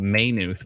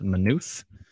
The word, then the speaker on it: Maynooth: east towards minutes i like to call it maynooth but it turns out it's pronounced minuth um and it's uh 3 49 uh let's see here that looks good 349.